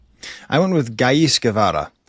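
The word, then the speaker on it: Ghais Guevara: I went with Gis Gavara. Um so, that's spelled G H A I S and then Gavvada like Chay Gavara.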